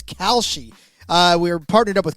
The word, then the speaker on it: Kalshi: to tell you about Khi. We've just partnered up with Khi, a real money I'm sorry, it's Kelshi. Khi. I've been watching the commercial so much I've been mispronouncing it. So, it's Kalshi.